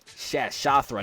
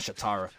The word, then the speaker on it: Shathra: Shathra, not Shatara. Shathra.